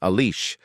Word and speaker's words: Alice: Iceberg wakes up and tells his genius secretary Alice, 7FI in Japanese, with an Italian pronunciation, Alice, to prepare some screens to broadcast Vegapunk's message.